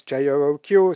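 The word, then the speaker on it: jOOQ: or mapping framework and so I pronounce it that's because I'm Swiss there are different pronunciations you can also use JQ so it's probably the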